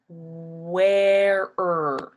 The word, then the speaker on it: where: you're going to go where so we don't worry about the E right here because it's silent it doesn't do anything